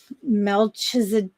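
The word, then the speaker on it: Melchizedek: It is Melchisadec. It's me E L C H I Z E D E K.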